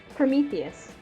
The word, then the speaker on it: Prometheus: Prometheus.